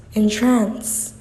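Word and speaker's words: entrance: in the answer is in trance it could be read with emphasis on second syllable in 1994 an American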